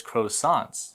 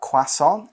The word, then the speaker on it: croissant: will hear people saying croissant in a different way we kind of follow the French pronunciation which is different because in the u.s. we always hear croissant but I do hear